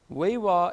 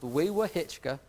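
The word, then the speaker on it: Wewahitchka: Weewa is pronounced Weewa-Hitchka, but nobody knows how to say it when you read it on the sign.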